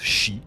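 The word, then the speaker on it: 四: En japonais, 4 se prononce chi comme le mot mort.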